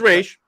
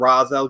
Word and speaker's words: Ra's al Ghul: not Ra's al Ghul I don't think it's right it's rage I would say it was this film that really kind of set in the wrong pronunciation yeah before this and then he had this film which is like people's biggest exposure to it and I think that's the reason why everyone calls them Roz Al ghoul is because of